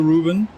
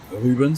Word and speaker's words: Ruben: Yeah, he lost quite some time to Ruben. Ruben, sorry. He told me he doesn't like when we call him Ruben. Like the English pronunciation.